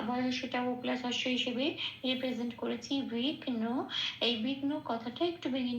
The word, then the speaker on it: বিঘ্ন: আচ্ছা বিঘ্নকে বয়টা বয়সটা প্লাস হিসেবে রিপ্রেজেন্ট করেছি বিঘ্ন এই বিঘ্ন কথাটা একটু ভেঙ্গে নিয়েছি ছন্দের চলন